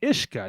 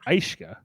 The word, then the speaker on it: ishka: some words and it's it's ishka not aishka bro it's from the